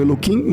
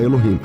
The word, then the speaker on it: Elohim: Vocês falam Elohim, mas o termo é Elohim, né, na verdade. No plural. É que no lugar do K é o H, né? Que vocês não vão pronunciar Elohim.